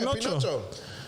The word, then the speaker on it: Pinocchio: Yeah, Pinocchio. Pinocchio. Oh, I think Chubb spelt it wrong and they're ribbing him. Yep, Amber's ribbing him. Oh, shit. Or did he correct himself? Oh, he corrected himself. Pinocchio.